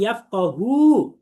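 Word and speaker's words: يفقهوا: আমি যদি বলি ইয়াফকাহু শুধু টান না দিয়ে, তাহলে অর্থ হবে সে একজন পুরুষ বুঝবে। আর যদি বলি আমি ইয়াফকাহু টান দিয়ে, তাহলে অর্থ হবে তারা সকল পুরুষ বুঝবে।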